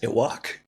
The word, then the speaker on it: Yhwach: And this guy's the most complicated name in the world, so it's spelled YHWACH. I'm like, all right. But it's almost pronounced like earwax, Iwak.